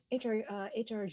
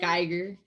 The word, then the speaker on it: Giger: Giger, is that how you pronounce his name? Geiger. Giger.